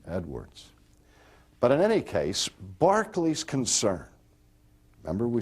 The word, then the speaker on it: Berkeley: And his name was George Berkeley, is how it's pronounced. Oh, I never spell it right. But if you look at it, you think it reads Berkeley, because it's spelled like the university campus that